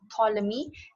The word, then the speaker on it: Ptolemy: his name is claudius ptolemy it's called as it's pronounced as ptolemy the p is silent so he was an